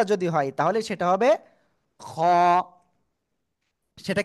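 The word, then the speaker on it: خ: হ্যাঁ, ওকে, এই যে উপরে একটা নোক্তা যদি হয় তাহলে সেটা হবে খ। সেটা কি হবে? খ। গলার শেষ ভাগ থেকে খ অক্ষরটা উচ্চারণ হবে মোটা আওয়াজে একালিফ টেনে, ঠিক আছে?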